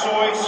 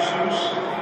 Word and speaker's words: Seuss: Seuss, who many people say Dr. Seuss. It's very appropriate that it is actually pronounced Seuss because it rhymes with rejoice.